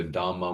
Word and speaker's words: dharma: D because there's also dharma with a small d and generally with a long a at the end dharma which means phenomena just things phenomenal things.